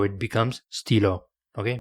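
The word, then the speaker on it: stylos: an S at the end of the word Stilo so it becomes Steelo okay it's not stilos it's Stilo still pronounced the same I've heard the trick question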